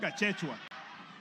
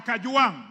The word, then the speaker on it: Gachagua: Speaker, first of all, pronounce my name properly. I'm not Gachechwa. I am Kajuang, not Kanjuang.